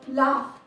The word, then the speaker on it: laugh: इसी तरह से एक और एग्जाम्पल देखिए, लाफ, LAUGH, लाफ। वैसे तो GH फ का साउंड दे रहा है और फ जो है वो एक वॉइसलेस कॉन्सोनेंट साउंड है।